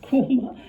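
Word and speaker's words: Quernmore: It's spelled Quillmore, but it's always pronounced KMA.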